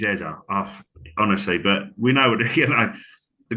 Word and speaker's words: Eze: I'm I'm gonna going to stick go with with Eze. Eza. Yeah, it feels Please, weird. guys, you know what we're saying, but apparently he like him saying it is Eza.